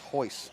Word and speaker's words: Royce: Yeah, that was McCormick, Royce McCormick. Or maybe it's Hoyce. We don't pronounce the R, like Hoyce Gracie.